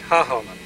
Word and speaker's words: Hagelman: I believe you pronounce that Hagelmann.